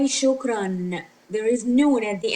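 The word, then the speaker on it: شكراً: So we pronounce it not just shokra, we pronounce it shukran. We add noon because there are two fatha.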